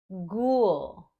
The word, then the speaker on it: ghoul: Sometimes this blend sounds like G, so the H is silent. For example, ghost, ghoul, yogurt.